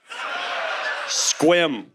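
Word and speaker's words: Sequim: we have SE qu i m re seum squim get the out squ s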